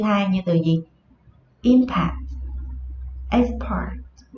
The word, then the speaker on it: export: Khi nó ở dạng danh từ, khi nó đứng ở vị trí là danh từ thì trọng âm của nó rơi vào âm tiết đầu tiên. Khi nó đứng ở vị trí là động từ, trọng âm của nó sẽ rơi vào âm tiết thứ hai.